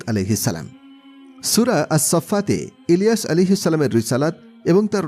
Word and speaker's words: ইলিয়াস: এই স্থলে কোরআন মাজিদে উল্লেখিত ইয়াসিন শব্দ সম্পর্কে মাওলানা আব্দুর রশিদ নোমানী বলেন, ইলিয়াস শব্দটির ভিন্ন উচ্চারণ ইয়াসিন। কারণ ইলিয়াস একটি অনারব বিশেষ্য। অনারব বিশেষ্য সমূহের উচ্চারণে আরবরা অনেক সময় ভিন্নতা করে থাকে।